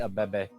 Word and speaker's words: Abebe: Faraji Abibi is what they call him. It's Faraji Abebe.